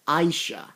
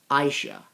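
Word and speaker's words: Asia: Finally how to pronounce that blonde girl's name. It's Aisha. Aisha.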